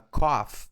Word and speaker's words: cough: Well, uh, the next one is a cough. This gh is pronounced as a with a a sound. So a cough, right?